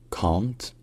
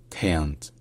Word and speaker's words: can't: C'est-à-dire que, globalement, grosso modo, en anglais d'Angleterre, ça se dit plutôt can't, can't, alors qu'en anglais américain, c'est plutôt can't, can't.